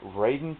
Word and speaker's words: Raiden: is from Sabu uh it is Raiden 2 or Ryden 2 uh depending on who you are and how you want to pronounce it uh this one's